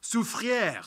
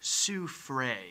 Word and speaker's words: Soufrière: In any case, today most town names and places are named after French words, but have like an anglicized, bastardized pronunciation. Reason being because instead of renaming everything after the French left, they just kind of repronounced everything.